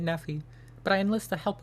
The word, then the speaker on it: Nephi: I agree to kill driver Nephi, or Nephi. He pronounces it Nephi, but I enlist the help of First Recon to do so.